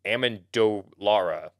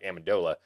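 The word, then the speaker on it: Amendolara: is uh per damon amendo lara want to make sure i'm pronouncing that not like amedola he actually interviewed uh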